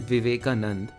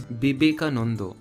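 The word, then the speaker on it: বিবেকানন্দ: becomes potho and therefore this isn't vivekanand it is no not even that it's bibeka and therefore because the schwa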